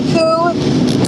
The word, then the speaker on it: coup: Pronounce the coup. Thank you. As in the coup d'etat.